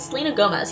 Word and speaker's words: Selena Gomez: Is it Selena Gomez? Yeah, I pronounced it right.